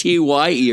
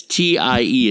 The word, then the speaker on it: TIE: Well, I didn't want them to think it's TYE or something, or Way to TIE. spell it out for him. You know, like Online. THAI or something. It's not Thailand. It's TIE. It's like tie your shoe.